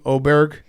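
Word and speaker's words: Åberg: Oberg.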